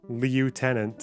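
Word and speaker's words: lieutenant: __ ] 12-page entries do you pronounce leutenant as left yeah that's the British way that's how they do it in this country sorry you mean the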